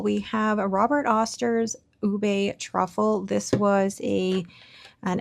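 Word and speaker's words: ube: love this one because ubé not ub, it's ubé. If you want to pronounce it like a Filipino ubé.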